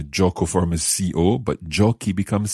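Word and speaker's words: giochi: i o c then it would actually sound like chochi like ciao yeah because the ci is a ch sound so we have to do something different to the spelling of this verb jockey is spelled c h i so the ending c h i we put an h in in order for the c sound to stay hard yes jockey is like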